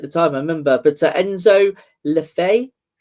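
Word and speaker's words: Enzo Le Fée: You did say at the time I remember, but Enzo Lefay. Enzo Lefay.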